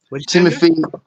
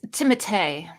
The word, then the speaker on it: Timothée: It's got Timothy M. Night Shyamalan in it, isn't it? It's Timothée. Oh. The correct pronunciation M.